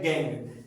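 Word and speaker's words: gangue: ores ores के बाद आता है गैंग स्पेलिंग है जी ए एन जी यू ई गैंग impurities like sand and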